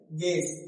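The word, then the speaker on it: guess: Silent you. कुछ words में लिखा होता है लेकिन उसका साउंड नहीं आता है। ठीक? मतलब प्रोनाउंस नहीं होता है। एग्जांपल जैसे गेस क्या लिखा है? गेस। गेस लेकिन कुछ जो यहां है क्या? साइलेंट है।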